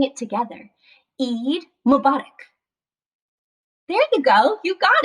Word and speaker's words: Eid Mubarak: to say it let's try saying it together eid mubarak there you go you've got it eid mubarak so let's look a little bit closer there's